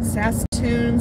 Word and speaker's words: Saskatoon: Daryl says hi from, let me see if I can pronounce this, hold on. Saskatoon, Saskatchewan?